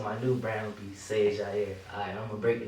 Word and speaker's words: SiegeAierre: So it's SiegeAierre. SiegeAierre. But it's like it's spelled crazy.